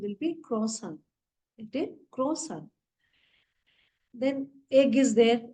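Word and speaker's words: croissant: for Kisa the spelling is same but the pronunciation will be crossan crossan then egg is there egg is called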